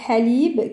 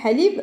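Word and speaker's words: حليب: Alors, on pourra trouver par exemple halib, qui est le lait. Alors, halib. Alors, on entend bien la lettre ha.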